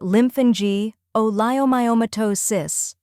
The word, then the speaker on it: lymphangioleiomyomatosis: The word is pronounced as lymphangioleiomyomatosis. First, we have lymphangio, where lymph is like in lymph node, an is short and clear, and geo sounds like geo.